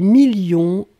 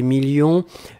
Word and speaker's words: millions: la fin 2 millions on ne prononce pas le s mais il est là ensuite signature mais ici